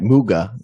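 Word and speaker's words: Mügge: um your investigations of kai moog is that how you say his name uh right muga the german correct i want to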